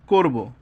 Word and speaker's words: করব: থাকে ক্রিয়াপদ যদি থাকে ক্রিয়াপদের অন্ত অ এর উচ্চারণ ও এর মত অ এর মত হবে যেমন যাব করব হ্যাঁ তো এখানে এই